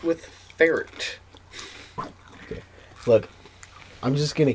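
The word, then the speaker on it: Furret: um my number five is fet um that's a rhyme with feret wow that's what I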